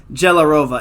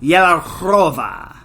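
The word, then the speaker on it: Jehlárová: It's not Magda Jelarova. It's Magda Yelarova. I want to say that was the best one.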